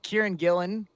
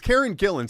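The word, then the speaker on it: Karen Gillan: um uh man uh Kieran Gillen or Karen how do you pronounce her name Karen Gillen I think you got it right there or Gillian I don't know which one I don't remember now you've got me it's Karen Gillen stop getting in my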